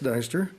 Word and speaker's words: Dyster: have uh dr dyster i pronounced that correctly or deester that's yeah i appreciate that mayor um my name is dr dyster like i was introduced and uh i've uh